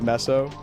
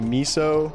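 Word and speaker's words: mesos: You pronounce it messo. Yeah, I've heard some people say miso. Messo. Messo. I go with uh mo. Messos. As a kid, I think I said misos.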